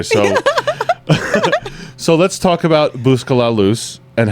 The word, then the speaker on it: Busca La Luz: a lot here so so let's talk about buscala loose and how did I say it right again